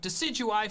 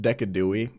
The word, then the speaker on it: Decidueye: alolan Doug Trio which made me switch out decidueye for valarsi I'm pretty sure it's pronounced decadui actually who handled it